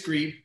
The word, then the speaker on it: Grieb: say your last name no you said it right it's greed okay awesome and uh dan